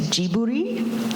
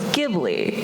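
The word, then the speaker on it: Ghibli: about gibli it's it's in Japanese it's jiburi but it's an Italian word so it's gibli and so it's like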